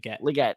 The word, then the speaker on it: Legette: Legette, thank you.